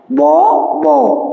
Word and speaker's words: bough: बो BOW बो एंड BOUGH बो, दोनों का जो प्रोनाउंसिएशन है वो सेम है, but when their spelling and the meaning both are different from each other.